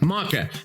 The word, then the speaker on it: maca: We crafted our products with beta alanine and maca. I think it's maca. Is it maca? Macaw? No, a macaw is a bird. Maca.